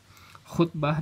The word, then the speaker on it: khutbah: Khutbah dan lamaran sama-sama dari lafaz bahasa Arab yang sama, kho, po, ba, dan ta marbutoh. Yang satu dibacanya khutbah, kalau lamaran dibacanya khitbah.